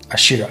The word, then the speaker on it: Ashera: Ashira is spelled as Ashera. Ashira.